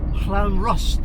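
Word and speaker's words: Llanrwst: the prettiest in wales all the clown rust at least that's the way i've been told to pronounce it and then and then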